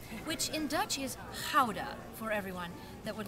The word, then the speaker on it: Gouda: also today we have a gouda The Laughing gouda which in Dutch is powder for everyone that would like to know to